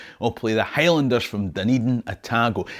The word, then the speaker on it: Dunedin: Now, Dunedin is next, and it's a proper bagpipey Robert Burnsy jockety jock Scottish town. It's just that they pronounce the Gaelic word for Edinburgh wrong. It's Dunedin.